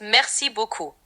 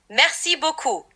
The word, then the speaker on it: merci beaucoup: It's merci beaucoup. The R in merci is soft, and beaucoup has an O sound, like beaucoup.